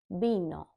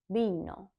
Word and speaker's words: vino: So with your lips barely touching together, try to say the word vino, vino, vino, like the drink, wine.